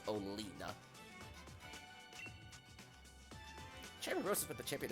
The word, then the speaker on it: Oleana: Oleana. Or Olina. I think that's how they pronounce her name in the anime. Because they did the 2 episodes of Twilight Wings already, and she appeared in one of them, and I think they pronounced her name as Olina.